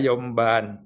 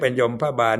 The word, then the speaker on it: ยมบาล: ไป ลง โทษ นาย ยมบาล อย่า ออก เสียง เป็น ยม พบาล นะ มัน ผิด ยมบาล นาย ยมบาล ก็ จะ